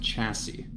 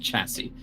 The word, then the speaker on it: chassis: Yeah, you might hate me, Ryan, but that word is pronounced chassis. Thank you. Yes, I could I can tell it's a one you have read but not said. Don't worry. It It is pronounced chassis.